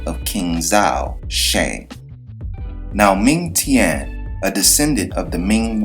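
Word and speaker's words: Meng Tian: Now, the Japanese pronunciation is Mouten, and the Chinese pronunciation is Ming Tian.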